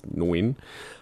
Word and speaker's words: Nguyen: Just before we get into this, I just want to clarify that I do realise the pronunciation is Nguyen, but I'm just going back to the sort